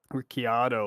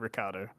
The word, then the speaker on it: Ricciardo: that like people like Ricciardo or something like that, Yeah. and he's like, maybe that's the original pronunciation, but my family's Australian and we say it Ricardo, so that's what it is.